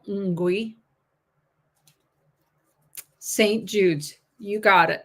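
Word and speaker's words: ngwee: One, I think it's Ngui, is how that's pronounced. I think the N is kind of a Ngui.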